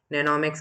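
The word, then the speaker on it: mnemonics: तो इस ऑर्डर को याद करने के लिए हम इसे सिंपल बनाते हैं, और सिंपल बनाने को हम नेनोमिक्स कहते हैं। इसमें एम साइलेंट होता है।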